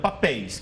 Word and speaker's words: papéis: Por exemplo, papéis, que é o plural de papel. Por que não perdeu o acento? Porque não é paroxítona, é oxítona, ou seja, a última sílaba é a forte.